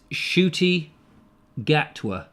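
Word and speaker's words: Ncuti Gatwa: was a slug i think his name is shooty gatwa shooty gat what's not how it's spelled that unfortunately mr monkey says that was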